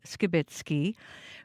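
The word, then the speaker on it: Skibicki: You might notice we are pronouncing Skibitsky's name differently. CBC has learned in court the pronunciation is Skibitsky.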